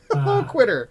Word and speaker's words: Loquitur: And we have Loquita. I said it right? Yeah, close enough. Loquitur, like Loquitur. So low, like the opposite of high, and then quitter, like someone who doesn't want to do it anymore.